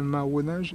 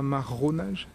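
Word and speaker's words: marronnage: accent très prononcé mais je dis bien maonage et non pas maronage parce que le terme n'existe pas en français c'est un terme créol donc c'est bien du maonage que je parle et je parle bien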